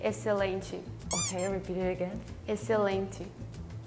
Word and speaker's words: excelente: In Portuguese, we say excelente. Okay, repeat it again. Excelente. Excelente. Oh, we don't pronounce. We don't pronounce the X. It's just excelente. It's like an S.